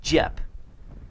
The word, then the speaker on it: Dieppe: or something like that, and it's like Jep. It, from what I could hear on the computer, it said like Jep.